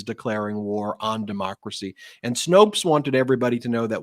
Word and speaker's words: Snopes: Is it pronounced Snopes, Brett? Is that how they call themselves? Yeah. Snopes. Sometimes I call it Snoops, but I call it Snopes.